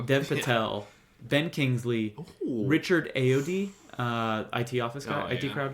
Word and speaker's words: Ayoade: But Ralph Fiennes, Richard Ayoade, is that how you say his name? Yeah, Ayoade. Yeah.